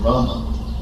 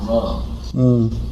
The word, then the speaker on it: Rama: and told me I'm not saying Rama, I'm saying Ram. And he said you're supposed to say Rama. And so then I was wondering what you're supposed to say, because I learned tape Prabhupada, I listened very closely, then I heard him say, it sounds like he's saying Ram.